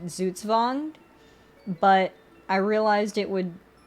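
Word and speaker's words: Zugzwang: winged uh and it's based on a German word uh pronounced zuzvond but I realized it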